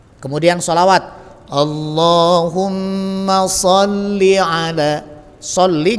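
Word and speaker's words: صلّ: Sholli nggak boleh panjang.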